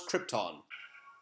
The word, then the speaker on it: Krypton: Although Marlon Brando is said to be the greatest actor to ever live, he can't pronounce Krypton. You are the only survivor of the planet Krypton. It's 2 syllables.